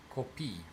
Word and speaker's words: copii: So, children, as in plural, is pronounced copii. For copy, it's pronounced copy.